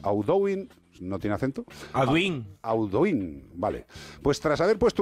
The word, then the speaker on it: Audouin: Audouin, vale.